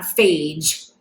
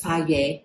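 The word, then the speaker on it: Fage: the fayette did you know that's how that's pronounced by the way it's not phage it's fagge it's a greek yogurt um and this one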